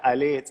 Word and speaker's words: allez: Yeah, allez, let's go.